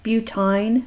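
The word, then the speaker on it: butyne: is f for alkine you pronounce all of these with a long I buttine pentin and so on okay let's go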